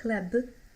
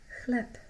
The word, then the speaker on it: chleb: Make sure you don't pronounce b, so don't say chleb. B becomes voiceless at the end and sounds like p. Chleb, chleb.